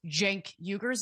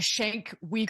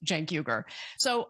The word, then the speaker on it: Cenk Uygur: watching The Young Turks, he would know how to pronounce Cenk Uygur's name. It's not sh- a Shank Weger or whatever it is that he said.